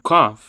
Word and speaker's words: cough: E quando você pronuncia essa palavra aí cough, você tá pronunciando com as duas letras aí o gh, não faz barulho não.